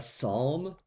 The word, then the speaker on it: psalm: A psalm. That's got like a silent letter.